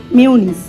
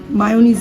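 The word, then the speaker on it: mayonnaise: এটা অবশ্য সৌর্যও খেতে পারবে, এটা হচ্ছে মেয়োনিজ, মায়োনিজ না মেয়োনিজ, ঠিক আছে?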